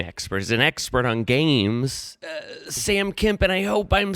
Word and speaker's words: Sam Kemp: than big game experts, an expert on games, Sam Kemp, and I hope I'm saying that right. That is the correct pronunciation.